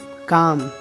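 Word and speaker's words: calm: एल, यदि किसी शब्द के अंत में एल के या एल एम साथ में आ जाए, एल के या एल एम, तो ऐसी कंडीशन में एल का उच्चारण नहीं होता, जैसे walk, चॉक, talk, पाम, बाम, काम, ऐसे वर्ड में एल का उच्चारण नहीं हो रहा है, ओके।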